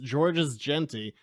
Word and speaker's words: Georges Jeanty: We are joined by main series artist Georges Jeanty, going through the credits of everyone, including television and comics. Georges, am I pronouncing your name right?